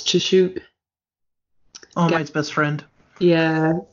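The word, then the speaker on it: Tsukauchi: ever costumed detective, whose name I can't pronounce, Chishuke. All Might's best friend. Yeah. Gary, what's your pronunciation? That's really good. Sukachi.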